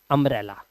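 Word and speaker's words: umbrella: लेकिन अगर यू के बाद यू के बाद दो दो कॉन्सोनेंट एक साथ आ रहे हो, जैसे अम्ब्रेला में आ रहे थे, है ना, अंकल में आ रहे थे, इसीलिए यू का उच्चारण आ हो जाता है, इसीलिए बोलते हैं एन अम्ब्रेला।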